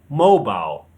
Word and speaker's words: mobile: In British English, it's mobile. Mobile. The stress is on the first syllable. Hear it again. Mobile. In American English, the stress is on the second syllable. Mobile. Mobile. So we have mobile and mobile.